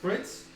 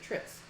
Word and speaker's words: Tritz: Fritz? No, she was. You spell it with a T. Tritz.